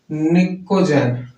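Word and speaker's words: pnictogen: निकोजेन। यहाँ पे P silent होता है, निकोजेन या नाइट्रोजन फैमिली।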